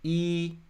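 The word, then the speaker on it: 一: So in Chinese, E, that's how we pronounce 1.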